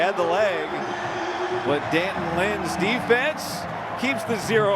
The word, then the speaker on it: Danton: A lot of people are saying Deanton, which he told us, "Yeah, that's actually not wrong. Deanton, Deanton means of Anthony, right? Anony's son."